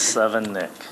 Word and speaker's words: Sevenich: Gosh, everyone's mispronouncing my name today. It's Seven Nick. Very simple.